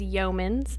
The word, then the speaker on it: Youmans: So my last name is Yeomans, and it's spelled Youmans.